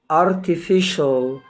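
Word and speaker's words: artificial: بتاعنا مقطع مهم جدا وقلنا ما بينطقش السي لوحدها طبعا السي اي والسي اي اي والسي اي او مع بعض بتنطق شين يا رب يكون الفيديو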